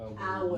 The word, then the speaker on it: our: Agora, essa pronúncia de nosso aí no pronome possessivo, pronunciar o Our. nosso e a hora, É igual, é idêntico, é né?